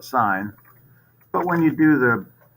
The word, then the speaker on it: sine: Sine, that's actually how you spell sine. But when you do the setup, you just put S-I-N. So it's actually pronounced sine, not sin.